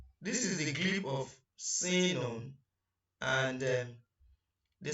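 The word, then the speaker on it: سين: The next one is sinun. Sinun. And the short form of pronunciation of it is sin.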